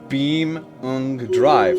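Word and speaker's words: BeamNG.drive: It's pronounced Beam Drive.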